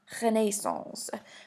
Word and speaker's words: renaissance: what is a renaissance the word renaissance means rebirth in french it's actually pronounced renaissance but we're not that